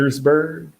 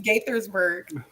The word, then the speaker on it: Gaithersburg: Gatorsburg? It's, Gaithersburg? it's Gaithersburg.